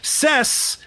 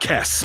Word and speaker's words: Cess: Cess and not Kess. Maybe it's It's spelled with a C. I think it is Cess, but who knows?